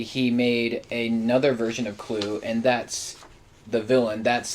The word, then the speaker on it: CLU: There's Clue. Clue. He's the villain for this one. Yeah, and it's spelled CLU without the E.